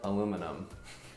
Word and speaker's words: aluminum: It's very simply said, aluminum. Aluminium is what we say.